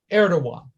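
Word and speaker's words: Erdoğan: erdogan of turkey and we pronounce erdogan even though he spells his name erdogan but it's pronounced erdogan okay it was a good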